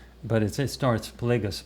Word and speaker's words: Plagueis: about the last book darth plagueis i actually mispronounced darth plagueis darth i was saying it darth plagias but it starts plagueis plagueis and uh some of the people who watched